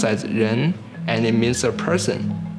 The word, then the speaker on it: 人: It pronounced as 人, and it means a person.